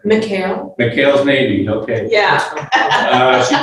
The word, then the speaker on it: MCAEL: She's executive director of the Montgomery Coalition for Adult English Literacy, called MCAEL. Can you pronounce that? McHale.